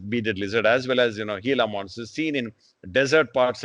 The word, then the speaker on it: Gila: It's pronounced Gila, though it's spelt with a G, it's pronounced as H. Gila monster, this is one example I'm showing you here.